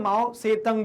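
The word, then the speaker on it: Mao Zedong: माओ कौन है सर, तो माओ जेडोंग, ठीक है, माओ से तंग भी आप कहीं इसका प्रोनाउंसिएशन सुनोगे तो वो एक दूसरा वर्जन हो जाता है।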